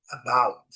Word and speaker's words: about: Vamos as palavras que tem a letra A com este som. A primeira palavra trouxe aqui é a palavra about. About. Vocês observem que a sílaba forte está em amarelo. Eh, ela é caracterizada nos dicionários por esse sí aqui, esse pequeno apóstrofo, né, que caracteriza a sílaba